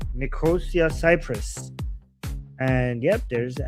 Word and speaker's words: Nicosia: I forgot how to pronounce this. Nico Nikosia. Yeah, Nikosia. Nicosia.